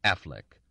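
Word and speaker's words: Auchinleck: heir to the modest estate of organlic which he pronounced Affleck but since his father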